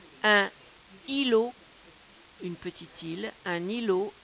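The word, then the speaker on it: îlot: r t mais dont on ne prononce pas le T un r un îlo une petite île un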